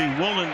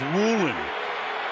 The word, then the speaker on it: Woolen: football knock it away spelled like it should be woen but he prefers Woolen and he changed it